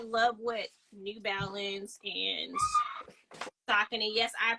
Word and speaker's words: Saucony: I love what New Balance and Saucony. Yes, I pronounce it Saucony because that is the correct way to pronounce it. I know people say Saucony.